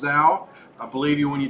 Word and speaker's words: Zhao: Michael says, do you not believe me when I tell you that Zhao is pronounced Zhao?